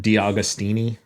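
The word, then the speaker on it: D'Augustini: Randy D. Augustini. Yeah, it's how it's pronounced.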